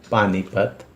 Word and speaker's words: पानीपत: पहला अक्षर हो गया पानी पत तो पत में त हम लोग एक झटके में बोल दे रहे अ का उच्चारण नहीं कर रहे ठीक उसी प्रकार विन